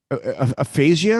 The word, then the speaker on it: aphasia: acting yeah yeah he's got a brain issue aphasia is how you say it i mean i